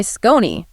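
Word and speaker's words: Skoni: Yes, this segment is also brought to you by Scon. That's S K O N I pronounced Scon.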